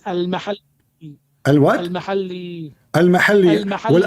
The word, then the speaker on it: al-Mahalli: It is not al-Muhalla. What it You is? don't understand. What it is? It is al-mahalli.